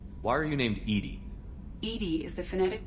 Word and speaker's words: EDI: the medical Bay why are you named Edie Edie is the phonetic pronunciation of Edie I that is an acronym for enhanced defense intelligence are you getting along with Joker mr.